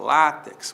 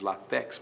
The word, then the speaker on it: látex: Látex. Muita gente diz latex, mas não é latex, é látex, não é?